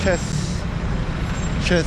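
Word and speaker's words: Thiès: I'm in I'm up in Chess, which is spelled T-H-E-I-S.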